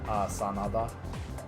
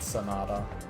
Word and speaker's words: Sanada: Sanada. That's what it should be, by the way. Or something close to that. Something like Sanada. Not Sonata. Sanada.